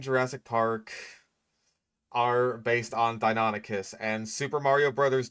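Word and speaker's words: Deinonychus: So, yeah, Dino Nikis, that's one of those pronunciations that I that I hear all the time. Like even though it is incorrect, it's very common. Like um I know that the guy from your dinosaurs are wrong thought it was called Donikas for the longest time until he discovered that it was actually pronounced Donicus.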